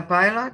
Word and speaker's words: pilot: a pilot he's a pilot not not pilot pilot no no no pilot so the first pilot the the stress syllable is the first one so pilot he's a